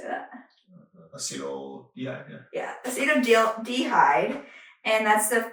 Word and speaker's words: acetaldehyde: Acetaldehyde.